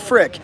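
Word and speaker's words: Fricke: or is it geek just like fricky is called freaky and frick but it's really frick silent e right george bryce calls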